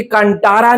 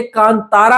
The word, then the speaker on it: Kantara: हमें समझाया कि भाई ये कांटारा नहीं है। ये कांतारा है। इसको इस तरीके से प्रोनाउंस करना है। हिंदी बेल्ट में बहुत से लोग गलतियां कर रहे देखो कसूर हमारा भी नहीं है। अगर मैं उसको पढूं तो कांटारा ही लगता है। टी को तो मैं टी की तरह प्रोनाउंस करूंगा ही करूंगा। पर बाद में पता लगा कि वो कांटारा ना होकर कांतारा है।